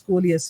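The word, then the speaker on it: Coleus: geranium geranium um colus the pronunciation comes as colus c l e u s we should be writing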